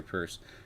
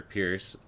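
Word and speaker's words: Peirce: hester's uh hester i i don't think it's pronounced pierce it's it's a purse i think huh i should look that up pierce it looks like pierce but it would be ie i think it's purse hester purse she's known as or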